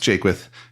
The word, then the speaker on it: Jaquith: bad at all it's it's pronounced Jake with but again I I